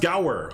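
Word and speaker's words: gaur: So, it's pronounced Gower.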